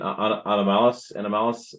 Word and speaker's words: anomalous: Anomalous fossils.